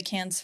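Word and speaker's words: Cannes: oh did it yeah that's really cool the can's Film Festival that's how you pronounce it right yes it is okay she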